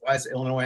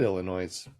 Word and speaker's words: Illinois: is it our Kansas is Illinois I have a S at the end if you're not supposed to pronounce it I know and when